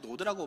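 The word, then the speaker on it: נוד: 그러면이 노땅이란이 노네 노드이 히브리어 보면 노드라고 발음하는데요.이 노땅이란 단어의 의미는 무엇인가 봤더니요.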